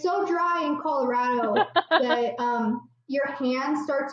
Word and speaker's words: Colorado: how to say Colorado you say Colorado like rad if anybody say Colorado